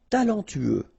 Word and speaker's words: talentueux: Talentueux. Final X not pronounced.